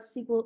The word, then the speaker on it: SQL: me pronounce it but it's SQL as in the sequel to a movie but it stands for